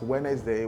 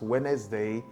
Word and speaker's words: Wednesday: So right from childhood, we were taught that the word is pronounced as Wednesday. We hear people speak it around us. We hear people say it oftentimes around us as Wednesday, and due to that, we've become used to pronouncing it as Wednesday. That is wrong. The problem here is letter reduction. Letter reduction. Most Nigerians are not conversant with letter reduction as a pattern, a phonological difference in English.